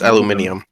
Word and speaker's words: aluminium: washington um george washington how do you pronounce that uh metallic foil that you put over food aluminum aluminium it's aluminium aluminum aluminum aluminum aluminum anemone